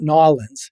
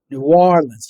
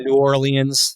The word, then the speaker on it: New Orleans: I I learned how to pronounce this. Not New Orleans. It's New Orleans. You have to say the W. New Orleans or New Orleans if you've been here for, you know, a native for a long time.